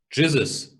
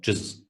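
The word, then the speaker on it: Gzuz: Jizzes. G-Z-U-Z is how it's spelled. Well, how it's pronounced. G-Z-U-Z. Jizzes. Standard.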